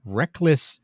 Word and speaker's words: Reklis: Rek-Lis is spelled Reklis.